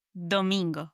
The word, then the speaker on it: domingo: And last but not least, we have Sunday, which is domingo.